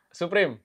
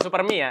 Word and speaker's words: Supreme: Ini yang pertama Supreme. Gimana? Suprim. Suprim. Betul. Yes. Bukan super me ya.